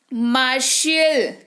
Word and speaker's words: martial: तो देखा आपने कैसे हमने ये समझ लिया कि टी के बाद अगर IA, IE या IO हो तो टी का उच्चारण वहां पर उस पर्टिकुलर शब्द में क्या हो जाएगा? श के रूप में टी का उच्चारण होगा।